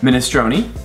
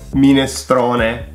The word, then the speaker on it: minestrone: Minestrone. Minestrone.